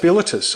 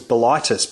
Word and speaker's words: Bilitis: Yeah, and it is pronounced Bilitus. I always thought it was Bilitis, but it is not. It is Bilitus.